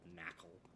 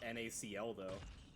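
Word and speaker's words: Nacli: Not NaCl, though. Yes, it is. Yes, actually, it is spelled quite literally NaCl.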